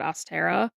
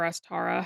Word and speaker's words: Ostara: of the year and that's actually called Astera. So or Aara, however you prefer to pronounce it. I say Austera.